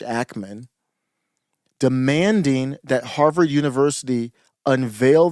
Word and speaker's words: Ackman: Like it's like Hackman without the H, Ackman, demanding that Harvard University unveil the names of the students.